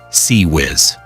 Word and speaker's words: CIWS: The fifth and last defensive layer is the Mark 15 Failank CIWS, pronounced CE Whiz.